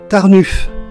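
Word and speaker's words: Tarnów: voilà la ville de tarnuff et oui ça se prononce ainsi le haut presque comme un U et le W presque comme un f enfin si les Polonais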